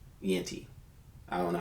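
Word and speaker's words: Jeanty: up at the Raiders because the Raiders got Yanti. Yenti. I don't know how to say this. Genti. Genty.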